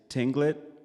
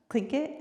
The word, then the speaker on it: Tlingit: Valine is Tinglet, Eagle, what is it? Tlingit. Yeah, click it.